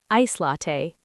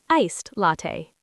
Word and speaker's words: iced latte: I'd like an iced latte, please. Not ice latte, iced latte. Past participle form.